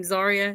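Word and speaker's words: Zaria: Ste Stephanie vaker you got um is it zarya is that how you say her name zarya yeah zarya yeah got those ladies that's come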